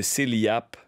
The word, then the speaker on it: CELIAPP: RER un sell ou le petit nouveau le cellap qui s'écrit comme comme CELI c e l I a p p h ok un